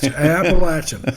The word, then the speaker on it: Appalachian: Little room when they hired me here and made me learn how to pronounce Appalachian State. And how did you say it? Appalachian.